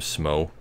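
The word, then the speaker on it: Smough: about the other character who I pronounce his name smoke because that's how the Verma G is spelled his Japanese name is spelled su mo smoke so that's so that's what I say it is but the funny thing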